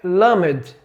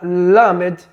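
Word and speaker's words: למד: usar como abordagem é lamed. Led, veja que para pronunciar a palavra lamed língua dental e língua palatual superior, né? Então, a língua vai colar no pálato ou no palato duro, ó.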